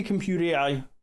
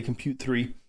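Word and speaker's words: Comput3 AI: So, I I say compute AI. A lot of other people say compute 3, which I mean I I mixed feelings about.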